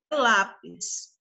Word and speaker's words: lápis: Qual a sílaba tônica da palavra lápis, pessoal? O lá. O lá. Isso. Olha o acento. Olha só o som que a sílaba nos oferece. Lá. É um som aberto.